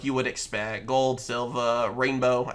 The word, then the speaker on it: Reign-Beaux: Gold, Silver, Reign-beaux. Again, I believe that's technically how you're supposed to pronounce his name.